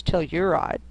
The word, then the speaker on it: Telluride: a town in Colorado called toride more you pronounce Telluride which is named because